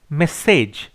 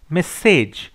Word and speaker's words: message: Question number 13, which of the following words is correctly spelled মেসেজ। মেসেজ, দেখো মেসেজটাকে কিন্তু মাসাজ পড়লে হবে না বা ম্যাসেজ পড়লে হবে না, মেসেজ, ঠিক আছে।